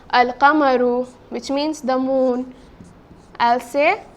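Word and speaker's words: القمر: This word, al-qamaru, I have pronounced the lam, isn't it?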